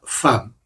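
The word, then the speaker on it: femme: Por cierto, fam se escribe en francés f e w m e y se pronuncia fam. Así que fam fatal.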